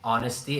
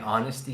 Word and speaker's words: honesty: Honesty. Again. Honesty. Yes. With just the H. You don't pronounce the H in honesty.